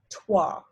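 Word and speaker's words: trois: three is twice so the ois in this word is pronounced wah so then becomes tua for is katsu so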